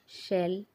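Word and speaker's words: shell: Okay, अब यहाँ पे लिखा है शेल।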